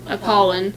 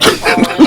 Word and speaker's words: Apollon: Worshiping Apollon. Yeah, we're both, Apollon. Yeah, we both worship Apollon.